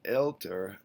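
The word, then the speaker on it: älter: dots over the vowel so you see alt goes to elter and cult goes to kelter so not only do you need to put two dots over the vowel but you also have to pronounce it alt elter cult kelter and so here's a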